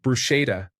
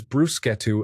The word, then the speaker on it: bruschetta: I was pronouncing it like bruschetta until the guy at the Schlotsky's drive-through window corrected me with zeal. Learned it is bruschetto at about 42 years old.